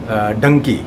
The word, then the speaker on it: Dunki: clear कर लू कि क्या एम I pronounce it correct डंकी को डंकी ही प्रोनाउंस किया जाएगा स्पेलिंग तो पता है डी यू एन के आई और डंकी का वैसे